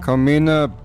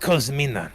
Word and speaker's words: Cosmina: Come Kamina Kamina It's pronounced Cosmina. You're missing the S.